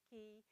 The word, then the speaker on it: chi: Phi, chi, yeah, that CH, or that looks like the X, is pronounced like a K, as in key, key, phi, chi, psi.